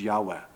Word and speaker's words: Yahweh: God has one name and the cor correct pronunciation is Yahweh but English speakers kindly say Yahweh so in